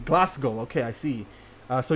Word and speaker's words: Glasgow: Uh, you don't pronounce the W in Glasgow.